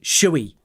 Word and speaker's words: shall: form pronunciation there like I wish she'd say sh we right because that's how we say it in American English as well should we dance